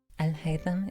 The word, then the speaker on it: Alhaitham: Alhaitham is named after an Iraqi scientist and has a fairly simple and sweet pronunciation.